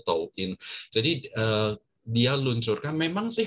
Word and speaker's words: Douyin: Kalau di China namanya Douyin gitu ya, dibacanya itu Douyin.